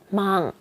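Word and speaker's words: 万: 만은요. 망. 너무 발음이 비슷해서 쉬워요. 만은 망이에요. 일본어로도 발음이 굉장히 비슷하죠.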